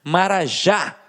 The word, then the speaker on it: marajá: Marajá, o já é a última sílaba e ficou mais forte.